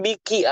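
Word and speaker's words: بِكِ: Hattasil bik ke laki-laki, kalau ke perempuan biki harus dibunyikan ki-nya. Perhatikan.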